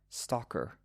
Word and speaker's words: stalker: is called a stalker St t a l k e r stalker it rhymes with Walker Stalker Walker at the same time I